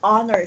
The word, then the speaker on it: honor: off honest it's an honor to meet you not honor but an honor to meet you because honor tests and Oh sound not an H sound at the beginning so those are just